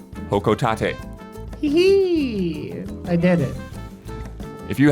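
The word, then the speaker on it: Hocotate: I was not sure how to pronounce that planet that Olimar comes from in Pikmin series but I looked up an old trailer from a previous game and Isla was correct the pronunciation is indeed hokotate I did it if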